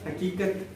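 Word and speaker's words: हक़ीक़त: तो ये बड़े काफ से आता है, तो इसको क्या बोलते हैं? हकीकत बोलते हैं, ताकि सुनने वाले को समझ में आ जाए।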